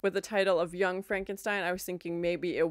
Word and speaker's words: Frankenstein: And even the way Frankenstein, when he's like, it's not Frankenstein, it's Frankenstein.